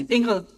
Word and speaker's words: Ingrid: In Danish, it's Ingrid. Ingrid. In Norwegian, it's Ingrid. Okay. Not Danish. For this Ingel, we had in German to offer Inge. It is very related. Okay, good. Ingrid, you're the vice president